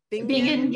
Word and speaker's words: Bingen: Hildegard of, am I pronounced Bingen? Bingen, yeah, von Bingen, yeah.